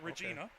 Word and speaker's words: Regina: it's a nice Jersey I just have to remind myself it's not pronounced like the Canadian uh uh uh area it's Regina okay and the Pioneer